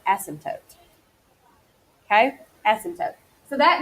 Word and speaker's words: asymptote: to describe is an asymptote asymptote yes I think it's a ssy MP t-- o-- t e the P is silent asymptote okay essence up so